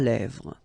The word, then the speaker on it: lèvres: Final S not pronounced. Lèvres, okay?